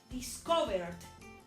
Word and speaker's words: discovered: Aunque yo ya le haya puesto ED, esa E no va a sonar. Entonces miren cómo suena. Discovered, suena la D. Discovered, tiene que sonar la D, pero no se dice discovered, no, se dice discovered.